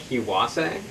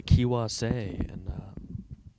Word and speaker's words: Kiwase: We're here in the studio with Kiwase, is that right? Yeah, that's right. Kiwase.